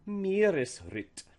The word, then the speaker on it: Meeresritt: So things to remember are to pronounce each part as if it's by itself, and then also that the internal stress still applies, and that the first word is usually stressed.